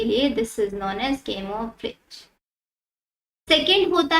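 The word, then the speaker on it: camouflage: बोलते हैं हम आपका केमो फ्लोज कैमो फ्लेज भी बहुत बच्चे इसको प्रोनाउंस करते हैं बट कैमो फ्लोज ये होता है इसका मतलब ये है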